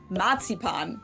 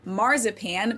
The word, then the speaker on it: Marzipan: Matsipan. That's how we say it in German. Matsipan. In English, it's usually pronounced marzipan, but the word is the same.